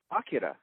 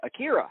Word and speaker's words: Akira: that for some reason English speakers always pronounce the middle syllable the most. So instead of saying karaoke, they say karaoke. Instead of saying Akira, they say Akira.